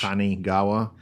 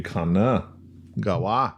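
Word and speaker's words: Kanagawa: Kanigawa. Should be Kana. Gawa.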